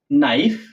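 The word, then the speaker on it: knife: এই কারণে নো নাইফ নি নট নাইট নিট এভাবে উচ্চারণ করা লাগতেছে।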